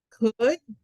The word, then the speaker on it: could: Que ninguna se le pronuncia la letra L. Entonces, esta aquí, ups, se va a pronunciar como could, should, and would. Okay. Entonces, could you play something else? Could. Okay. Nunca se pronuncian esas letras L's.